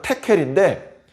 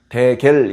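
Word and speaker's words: תְּקֵל: 원래 발음은 테켈인데 데겔 이렇게 써 있죠.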